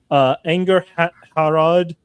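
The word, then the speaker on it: Angharad: The H is pronounced. Angerharad.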